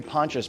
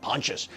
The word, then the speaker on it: Pontius: Avenue in West LA when I say ponchas p o n t i s I don't know how to pronounce it I was like is it Pontius no I had to put it in Google and then Google told me pontious 1845 pontious in West